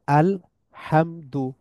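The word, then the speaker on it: الْحَمْدُ: হচ্ছে পেশ বা দম্মা তাহলে আল হামদু মিমের উপর আবার এই সাইনটা আছে সুকুনের সাইনটা আছে আলহামদু আলহামদু আলহামদু লিল্লাহি লিল্লাহি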